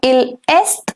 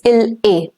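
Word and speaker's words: il est: two a l a the T over here remains silent it's not ill s it's ill a l a l a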